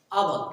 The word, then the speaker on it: hour: आवर, HOUR का जो pronunciation होता है वो क्या होता है? आवर, क्या होता है?